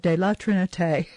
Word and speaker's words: de la Trinité: So I really worked at pronouncing La Trinité, de la Trinité.